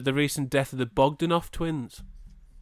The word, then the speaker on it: Bogdanoff: of was the the recent death of the Bogdanoff twins. That's how you pronounce it, is it? Bogdanov.